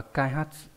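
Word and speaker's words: 開発: Chúng ta có này, chữ này là chữ Kaihatsu, đọc là Kaihatsu.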